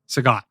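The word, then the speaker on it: Sagat: Sagot Sagot.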